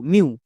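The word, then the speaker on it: mew: এম ই ডব্লু, মিউ। সো ই ডব্লু এর জন্য আমরা ইউ সাউন্ড করব। যেমন ফিউ, ডিউ, মিউ।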